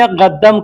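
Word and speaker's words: قدام: इसी प्रकार, आगे बढ़ने को अरबी में 'गद्दाम' कहा जाता है। लेकिन लिखित रूप में इसे 'क़द्दाम' लिखा जाता है।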